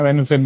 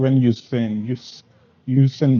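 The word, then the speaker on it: Van Heusen: वैन हुसैन नहीं बोलते इसको, वैन यूसेन बोलते हैं.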